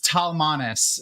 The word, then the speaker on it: Talmanes: So it's Talmanes is how it's pronounced in the books, but like again, like